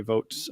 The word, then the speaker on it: Voogt: find you there or they can find mary votes uh somewhere as well um as i learned that's the correct pronunciation the name well to take it home